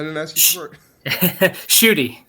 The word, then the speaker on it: Schutte: Is that how you pronounce it? I didn't ask you for it. Shooty. Schutte, okay.